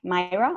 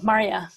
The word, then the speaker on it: Maria: to go into is it my number 8, Myra? I think her name is Myra. I'm saying it wrong. Oh, Maria. Yeah, there you go.